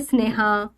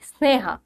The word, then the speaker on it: স্নেহ: যখন তুমি বলবে স্প্রিহা যখন তুমি বলবে স্নেহা এই যে স গুলো আসছে এই স গুলো তুমি উচ্চারণ করতে পারবে এটা তালব্য এর মত উচ্চারণ হয় না তালব্য সর থেকে আলাদা হয় দাঁতে থাকে স্প্রিহা মানে হালকা একটুখানি টাচ থাকে স্নেহা তাহলে সটা ঠেকছে দাতে তাই জন্য দন্ত স হচ্ছে এটা আর বলছে কি